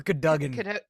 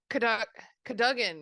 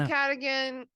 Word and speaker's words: Cadogan: Okay, Jim Dale says Jim Dale says like Oh, Sir Cadogan. Cadogan. Yeah. Yeah, that's true. I was Maybe like, I've been what? saying it wrong the whole time, or maybe Well, I I don't said Cadigan.